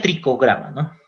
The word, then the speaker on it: Trichogramma: va a ser trichogramma bueno se pronuncia trichogramma trichogramma produce escribe trichogramma entonces trichogramma es como